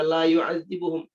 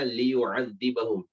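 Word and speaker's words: لِيُعَذِّبَهُمْ: Jangan baca la yu'adzibuhum. Ya. Atau lu ya'adzibuhum atau la ya'dzabuhum atau dan semisal dengannya. Tapi sudah antum pelajari semuanya di nahwu dan shorof, ya. Itu bacanya liyu'adzibahum.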